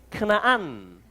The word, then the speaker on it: 크나안: 자, 거기서 이제 2절, 거기서 유다는 크나안 사람, 자, 가나안을 크나안이라고 합니다. 원래 발음으로 하면. 또 해볼까요? 크나안, 가나안이란 말이에요.